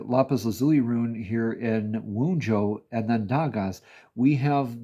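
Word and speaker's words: Wunjo: up too apparently because I was mispronouncing this as wound here. Uh that's very interesting. These are all shuffled in between. But um regardless, you're clarified with the rune of clarity here in Wujo.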